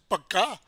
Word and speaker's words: पक्का: because the ka is, the middle ka is pronounced half or less, pakka, we are cutting the ka in the middle and connecting with the consonant that it follows, right?